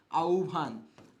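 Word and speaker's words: আহ্বান: উভ তার মানে কি এই যে আছে আভান তার মানে উচ্চারণটা কি হবে আউভান আউভান এর উচ্চারণ কি হবে?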